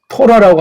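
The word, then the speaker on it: תורה: 주셨다고 해서 처음 쓴 거잖아 이걸 갖다가 예 토라고 하잖아요 구약에서 거기 점찍힌 모험대 발음하면 토라고 하는 거예요 토라 토라가 정말 지금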